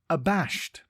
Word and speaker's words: abashed: time today's word is abashed it is pronounced a bashed and spelled a b a s h e d think a and then bashed before we get into